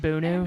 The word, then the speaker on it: Bono: things according to Bono, and And It's pronounced Bono.